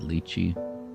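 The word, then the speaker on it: lychee: And some people pronounce it lichi. Some people pronounce it lii with a darken expression.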